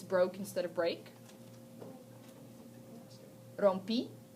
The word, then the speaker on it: rompí: Rompi, accent on the I.